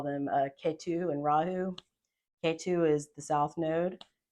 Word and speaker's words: Rahu: viic astrology you call them a K2 and rahu K2 is the South node if you want